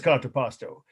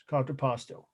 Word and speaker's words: contrapposto: a few in this class so what is contraposto it was a pose for sculpture right uh